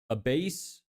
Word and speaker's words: Abbas: Okay, I'm gonna say it in multiple pronunciations. Abbas, Abbas, Abus, Abase. Those are the only ones I can think of. Need to make more ad creatives to dump into this. I need to keep finishing my... Fourth is the best and closest.